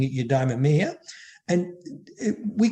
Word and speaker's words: eudaimonia: um aristotle had this term i have trouble pronouncing it eudaimonia and we call it flourishing and the and